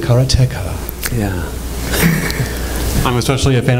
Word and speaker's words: Karateka: mine sniped sorry but isn't it carrot tech you pronounced it Cara tech yeah I'm especially a